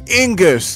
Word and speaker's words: Ingus: to spawn is the Ingus and it it rhymes with Dingus and that's what llama